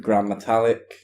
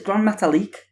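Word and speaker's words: Gran Metalik: Has a match with Grand Metalik. Said it wrong, it's Grand Metalik.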